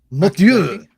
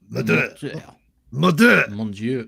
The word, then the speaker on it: Mortyr: So the first one is a game called Mortar. Mortar. Now, I don't know if you. Yes, I think that's how you pronounce it. It's Mortyr. Mortyr.